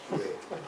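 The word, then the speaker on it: Kyua: He's written a testing framework called QA. It is spelled K-Y-U-A, but it is pronounced QA.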